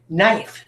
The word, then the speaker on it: knife: a word knife knife knife starts with this phonogram KN but do I say kai knife that when i say i don't do I